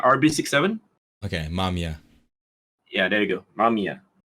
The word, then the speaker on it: Mamiya: How do you pronounce that? The camera brand? Oh, this is the Mamiya RB67. Okay, Mamiya.